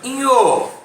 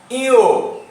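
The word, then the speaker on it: ঞ: এই বর্ণটিকে আমরা প্রকৃতভাবে উচ্চারণ করব শুদ্ধভাবে ইও। ইও, এই বর্ণটিকে উচ্চারণ করব ইও।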